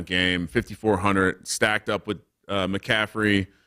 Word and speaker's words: McCaffrey: 5,400 stacked up with McCaffrey or McCafferty if you like that pronunciation better, and Sammy D.